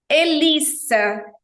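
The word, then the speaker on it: hélice: relação a essa palavra o H em francês nunca tem som nunca independente da posição que ele Exerça que ele esteja ali na palavra e com acento agudo você já sabe é o som Fechado Como se para nós no português fosse um circunflexo e Lis e final sem mudo profe o e na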